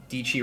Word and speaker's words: Dietschy: Dichi rhymes with Peachy.